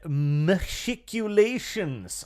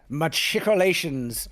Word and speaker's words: machicolations: Machiculations. I pronounced that wrong. You did. Machicolations.